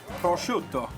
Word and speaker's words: prosciutto: How do we pronounce this? Prosciutto.